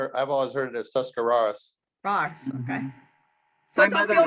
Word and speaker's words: Tuscarawas: And we live in the little town of Sandyville, northern Tuscarawas County. So Tuscarawas? Is that how you say it? Tuscarawas. Okay. I've been saying it all wrong.